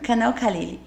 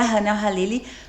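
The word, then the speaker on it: Khaleeji: Mas é a pronúncia certa seria halili porque em árabe o o K que nem lembra quem lembra do Caled? Do Sim, do cantor Caled, na verdade é Haled.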